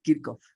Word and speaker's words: Kirchhoff: Paul Kirchhoff, si es que es austríaco el señor, Kirchhoff.